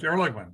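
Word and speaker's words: Ehrlichman: said uh I could be saying his last name wrong, I'm sorry, John Erlman. Am I saying it right? Yes. Erligman.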